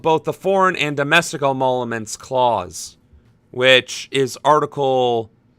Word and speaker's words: emoluments: Okay, how do you pronounce emoluments? Emoluments. Well, I always threw in an extra M there.